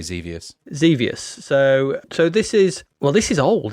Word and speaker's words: Xevious: How do you pronounce it? I'd say Xevious.